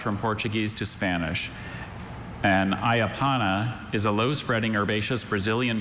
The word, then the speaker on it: ayapana: And ayapana is a low-spreading herbaceous Brazilian shrub whose long, narrow leaves are used to make a mildly stimulating decoction resembling tea.